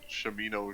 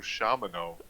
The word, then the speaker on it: Shamino: Oh yeah, like I mean, even earlier today we were calling Shamino Shamano. Yeah. I was like, that sounds weird to me, but Yeah.